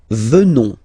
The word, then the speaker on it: venons: Nous venons, okay, O-N-S, classical ending for nous, okay, final S not pronounced, so O-N, on, venons, venons, nous venons, nous venons,